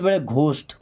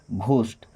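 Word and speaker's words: ghost: तो सबसे पहली बात ध्यान रखिए कि अगर जी और एच किसी शब्द के शुरू में आ रहा है तो उसका उच्चारण घ जैसे जी एच ओ एस टी घोस्ट। क्या पढ़ेंगे? घोस्ट।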